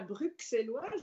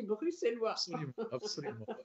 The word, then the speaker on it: bruxellois: bruxellois et vous voyez je prononce bien je ne dis pas bruxelles loire jeudi bruxellois vous avez failli vous installer